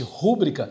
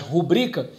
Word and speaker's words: rubrica: caso de uma determinada palavra como rubrica que muita gente fala equivocadamente rubrica né mas rubrica Então nós vamos observar